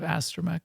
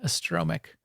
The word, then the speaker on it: astromech: The throwback to our Stask's pronunciation of astromech last night. That was kind of funny. Kept saying astromic. Check out this astromic.